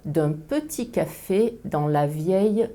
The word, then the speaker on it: vieille: Je prononce ville ou tranquillité, mais meilleure et vieille. Je prononce la phonétique le ou la phonétique ye.